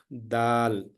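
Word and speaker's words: دال: is not possible because if you say d it it may give the sound of dad Delta it is not da it is Da Dal if you know the hyab Dal uh it is something like patal the sound should be the light sound it should not be heavy Dal for this one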